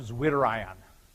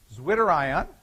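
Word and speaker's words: zwitterion: I'll bring it up here is the term zerion zwi t t e r i o n you can bet if I spell it for you that it spelling must be important okay zwitter iion is a molecule is a molecule whose charge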